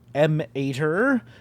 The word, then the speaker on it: Em8er: Ember instead of Em8er or Mater or the various ways that people have pronounced it, but it's EM-8er, which is the planetary